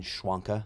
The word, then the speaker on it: Schwanka: podcast live stream with justin schwanka that is officially how you say his name justin schwanka of weird